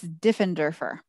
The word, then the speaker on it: Diffenderfer: to make sure I'm saying it correctly it's diffenderfer okay diffenderfer this is Jane dend derer and I am